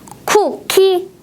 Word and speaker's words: 쿠키: 쿠키. 어때요? 몇 번일까요? 네, 2번 쿠키입니다. 두 개의 음절 모두 바람을 많이 내보내면서 발음했어요.